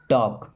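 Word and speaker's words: talk: nonsense don't miss मत टॉक L silent है ना टॉक पढ़ेंगे ऐसे टॉक don't टॉक nonsense nonsense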